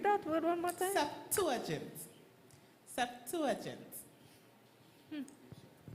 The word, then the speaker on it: Septuagint: Septuagint. Septuagint. All right. Septuagint. Gent. Gent. Yes, gent. Septuagint. Septuagint. Very good.